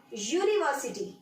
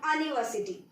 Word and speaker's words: university: Another one, university, not university. So ya is not the consonant, not the vowel. It is a consonant. So being the sound ya, being the pronunciation as ya, it will be considered